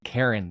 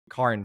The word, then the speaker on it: Karin: I called you Karin the whole time on the podcast, and you were nice enough not to correct me. I'm sure you potentially get that a lot, but I will call you Karin from now on because that's how you pronounce